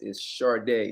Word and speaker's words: Sade: hey, guys, so who we're speaking to, her name is Sade. Is that the right way to say it?